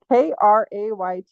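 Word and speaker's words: krater: Crater, spelled with a K. Krayter.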